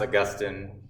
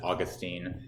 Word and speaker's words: Augustine: And it is pronounced Augustine. From what I've heard, that is the correct pronunciation. You may also pronounce it Augustine.